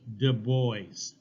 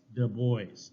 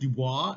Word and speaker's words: Du Bois: Du Bois. Du Bois, okay, like the boys. Now, it should be pronounced Dubois, as of the forest in French, but he always pronounced it Du Bois.